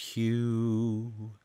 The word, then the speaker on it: HU: should be chanted, but it's H-U, and it's pronounced Hue, and I'm going to just do it a